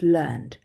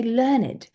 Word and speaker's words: learned: also have have learned so when it's a verb it's in the past it's learned but when we're talking about it as an adjective we say learned so this means educated so my father was a very learned man his brain was like